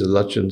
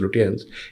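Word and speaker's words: Lutyens: for example the phrase Lin Delhi yeah which sometimes deliberately but mostly mistakenly mispronounced as Lan is meant as a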